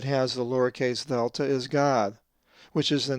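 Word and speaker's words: Γάδ: So the Greek word again is pronounced God.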